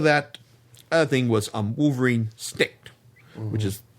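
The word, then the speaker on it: Snikt: thing was um Wolverine Snick which is in case I mispronounced that it's Snick yeah it's the it's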